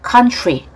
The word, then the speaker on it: country: 발음 가죠. Country.